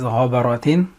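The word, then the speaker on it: غَبَرَةٌ: So the first word we have is ghabaratin, and it has 4 syllables.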